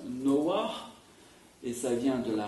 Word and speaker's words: Noah: Il est dit que Noé s'appelle Noé, alors en hébreu ça se prononce Noah, et ça vient de la racine Nar, parce que, dit-on, Dieu s'est reposé en lui.